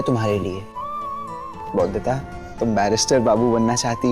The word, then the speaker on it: बैरिस्टर: बैरिस्टर बाबू बोलता तुमने बैरिस्टर बाबू बोला तुमने इस बार तो इस तरह बोलो बै पर रेस रेस रेस टर टर उडूंगी मैं बिस्तरा बाबू लगवा दो मुझे